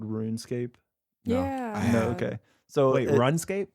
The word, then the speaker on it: RuneScape: of the game called runescape yeah no okay so wait run scape run it's spelled like run escape but it's runescape maybe i have maybe